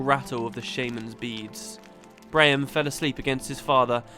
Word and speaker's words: Braham: But a lot of people insist that his name is pronounced Bram, like you ignore the AH in the middle completely.